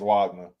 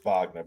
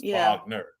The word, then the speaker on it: Wagner: Wagner Frank FR Wagner it's really it's Vagner but Wagner yeah God D forgive me y'all meet us so we could tell me how to say your name actually you're saying it correctly man because fronze is German if I remember right and German you know the W is a vound so it's vogner just like it's we see